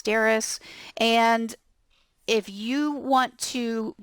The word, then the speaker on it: Darice: My name is Darice, but the way it's spelled, D-A-R-I-C-E, I get a lot of mispronunciations of my name. I put in there that it's Darice, rhymes with Paris.